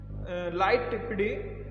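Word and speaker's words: lighttpd: द लाइटपीडी pronounced इसको किस तरह, लाइटी, is also a free web server that is distributed with the free BSD operating system.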